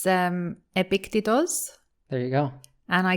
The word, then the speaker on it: Epictetus: Well, in Greek, it's Epictetos.